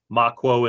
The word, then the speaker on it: Mahquo: Goot is spelled Ghuut. Makwo is Mahquo.